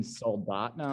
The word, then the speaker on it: Soldotna: So the rink's in Soldotna, Alaska, Okay.